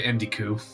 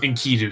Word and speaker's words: Enkidu: Yeah, I'll go to Indiku. Or Enkidu? Enkidu, sorry. I've always had pronunciation.